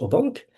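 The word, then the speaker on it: Aubenque: Et mais on doit à un philosophe français qui est Pierre Au du Midi donc on prononce au banque euh dans une perspective vraiment nouvelle.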